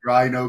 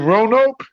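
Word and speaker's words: Roanoke: lived Rin o for I live in ronoke ronoke yeah sorry I'm pronouncing it wrong I went to ronoke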